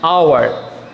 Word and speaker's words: hour: H is silent here, H pronunciation is silent here, for that reason you have to use here an hour, an honest man.